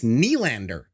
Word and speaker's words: Nylander: By the way, coach, it's Nylander. Say it right.